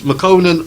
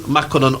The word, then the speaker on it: Makonnen: So it's Makonnen, Makonnen, or Makonnen. It can be pronounced either of those 3 ways.